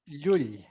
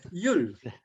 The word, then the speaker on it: Llull: You have to pronounce it Llull. I know it's hard, but Llull. That's the double L.